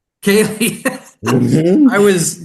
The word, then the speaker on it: ceilidh: hmm And you recently starred in the North American premiere of, and I'm definitely going to get this name wrong, Celdi? Kaylee. Kaylee.